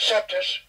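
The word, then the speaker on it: coeptis: On the back of your dollar bill, it says annuit coeptus, or I pronounce it septus, annuit septus novus ordo seclorum.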